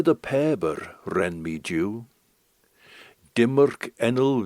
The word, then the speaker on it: Pabyr: The name of the song is Bear the Paber, so if you put Bear the Paber SoundCloud into the browser, you'll find it.